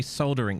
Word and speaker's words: solder: Bothered that soldering doesn't have yeah, don't you Americans say soldering? You say soldering, don't you? You don't even pronounce the L. What's all that about? It's solder.